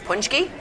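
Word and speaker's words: pączki: Did my Polish princess get some How do you say it? Punchkys. That's how you say it. Yeah. P A C K I is Punchki. Punchki. That's how you like. So, phonetically spelled. Uhhuh. Paciki is punchki.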